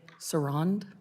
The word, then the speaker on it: Sarand: Now, is it Sarand? Did I say that right? Yes, Congresswoman, Ms. Sarand.